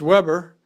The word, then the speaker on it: Weber: have been Vilhelm Weber and it would be pronounced Weber but the word Weber in German or labor